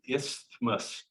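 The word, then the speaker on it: isthmus: the middle by a narrower Bridge called the ismos um another commonly misspelled word it's it's even hard to pronounce it's the ismus i s t h m u s istus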